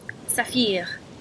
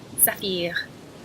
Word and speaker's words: saphir: Saphir. Saphir.